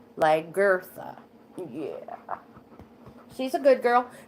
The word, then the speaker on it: Lagertha: And I just pronounced it like that, so you understand that in the middle it's Lagertha.